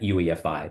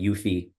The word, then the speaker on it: UEFI: the UEFI forum and that's actually how you pronounce that UEFI there are some people that call it UI which is also acceptable but uh The ufi